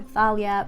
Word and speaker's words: Thalia: I say Talia or Thalia, but the narration says Thalia, so book number 3.